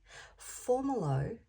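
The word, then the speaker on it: Fomalhaut: So yesterday, I kept hearing the word formalot. Now I've come to find that it's actually formal, pronounced formalo.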